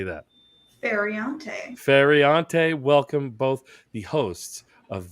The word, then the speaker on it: Feriante: I don't want to mispronounce your last name, Amanda. How do you say that? Feriante, welcome both the hosts of These Are Bad Movies.